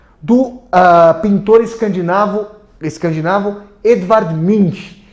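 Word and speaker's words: Munch: pintor escandinavo escandinavo de mim que eu tô aqui germanizando a pronúncia de mim porque ele u com trema nch eu não conheço as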